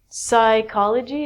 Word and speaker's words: psychology: So, psychology is the study of the mind. And actually, we say this like a K. So, this is psychology with the silent P.